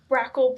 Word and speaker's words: brachial: So So I think it's called neonatal brarack plexus injury that you're looking at.